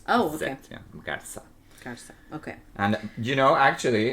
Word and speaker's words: Garza: Here it would be Garza. With a very sibilant. Oh, okay. Yeah, Garza. Garza, okay.